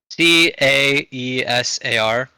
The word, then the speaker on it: Caesar: I think Kaisar is correct pronunciation of it if I'm right if I'm wrong. How? Wait, how is it spelled? C A E S A R Caesar.